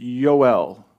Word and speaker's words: Yoel: they gave him joel they would pronounce it ul y-o-e-l when you break that